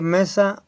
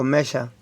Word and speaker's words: Mesha: de Moab, el rey Mesa o Mesa, ¿verdad? Se pronuncia mesa o mesha.